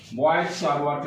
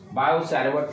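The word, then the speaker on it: Biot–Savart: ये किसने दिया था, बॉयल-सावर्ट लॉ। बायो टी को साइलेंट कर देते हैं, बायो-सावर्ट लॉ, टी साइलेंट में है प्रोनाउंसिएशन में, बॉयल-सावर्ट लॉ, ठीक है।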